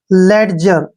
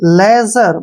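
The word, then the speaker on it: ledger: word है एल ई डी जी ई आर लेड जर गलत हो गया ना क्योंकि लेड जर नहीं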